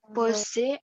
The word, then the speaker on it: pose: Nah, apa sih perbedaan tulisan bunyi pose dan connaissance ini? S-nya bagaimana perbedaannya? Kalau pose S-nya 1, kalau connaissance S-nya 2.